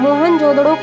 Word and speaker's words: मोहनजोदड़ो: की कोशिश करते हैं मोहन जोदड़ो शब्द का सही उच्चारण है मोहन जोदड़ो और सिंध भाषा में